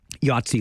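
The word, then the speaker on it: Yatzi: Yatsi like the game, but not spelled the same. Y A T as in Thomas, Z I.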